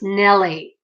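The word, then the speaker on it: Naile: you pronounce my name even though it's spelt n-a-i-l-e it's actually pronounced nelly in case you're wondering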